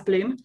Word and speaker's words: BLM: case this is the bloom protein so we spell it as blm but pronounce it as bloom um and it may